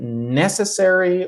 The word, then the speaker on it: necessary: Is it necessary or necessary? Look at the mark. Necessary. Necessary. But the second one is necessity.